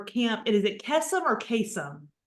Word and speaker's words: Kesem: Outreach coordinator for Camp is it kesum or kasum kesum kesum okay I was gonna mispronounce that so I'm gonna turn it over